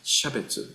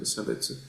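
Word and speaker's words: 差別: uh when we are talking about the Buddhist terminology, we pronounce as shabetsu instead of sabetsu. But of course, you may meet some of us or teachers in Japan who still pronounce this as a sabetu.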